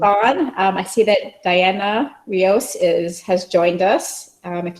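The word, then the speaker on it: Dayana: okay all right everybody go ahead and pin diana it's d-a-y-a-n-a did i pronounce that right yes you did okay fantastic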